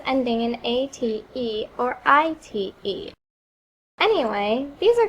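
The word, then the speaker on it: -ite: You can remember that because it rhymes with dynamite.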